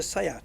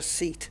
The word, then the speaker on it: SEAT: pronounce it you know if it's a Spanish car like a sayat it's a sayat it's not a seat yeah so I don't